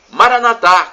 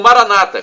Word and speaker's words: Maranatha: à mais eu clamo Maranatha como dizemos nós católicos com a tônica na última sílaba ou Maranata como dizem nossos irmãos separados os evangélicos ou protestantes com a tônica na penúltima sílaba não importa a província